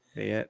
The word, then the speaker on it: Payette: I don't know how you guys pronounce it. Fuck. Pay it. Payette.